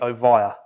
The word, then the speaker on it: Ovia: thought about uh ivy how should you pronounce it it should be ovaya ovira is it right